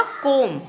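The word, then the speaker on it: comb: जो भी शब्द बनेंगे उसके उच्चारण में बी जो होगा वो साइलेंट होगा मतलब जब हम इन शब्दों का उच्चारण करेंगे तो हम बी को नहीं बोलेंगे तो पहला वर्ड बनेगा कोम क्या बनेगा कोम सी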